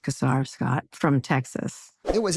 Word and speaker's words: Casar: Uh, it's pronounced Casar Scott from Texas.